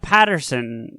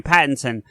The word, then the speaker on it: Pattinson: I'm even that way about Patterson, or however you say his name, Pattinson.